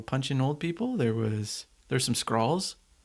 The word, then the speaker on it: Skrull: Kind of like skull, but Yeah, with an R. That's what Yeah. I'm saying. you're saying scrawl like a sprawl. Skrull.